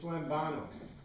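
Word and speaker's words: λαμβάνω: E-B-E-T-E, lambete, it's lambano. Lambano. This is the pronunciation.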